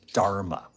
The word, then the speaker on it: Dharma: beautiful word in Sanskrit it's called Dharma it rhymes with Karma actually I think they